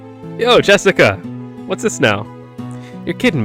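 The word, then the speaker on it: 朱志香: Anyway, is pronounced Jessica.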